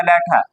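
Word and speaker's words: letter: है लेटा असल में जो ई के बाद वाला आर है उसको हम जो है वो साइलेंट करेंगे ये बन जाएगा लेटा तो हाउ टू हारा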